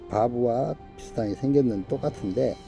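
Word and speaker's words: וו: 바브. 이 글자는 못을 의미합니다. 예수님께서 십자가에서 못 박히신 그 못, 바로 바브라고 읽습니다.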